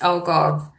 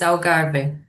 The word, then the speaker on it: Algarve: So if he's saying it in English is alv, but if you say in Portuguese is agar.